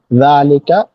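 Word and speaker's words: ذلك: এইযে জিহবার আগালটা এই জিহবার আগালটা উপরের পাটির দাঁতের সাথে এই জায়গাতে লেগে ঠিক এই জায়গাটা থেকে উচ্চারণ হবে। জাল হাজা হাদিহি জালিকা তিলকা তারপরে হাদিহি জালিকা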